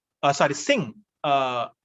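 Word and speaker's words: Synge: this irish playwright jm sinch uh sorry singh uh s i n g kind of that's the pronunciation of this uh spelling s y n g e sing so when we say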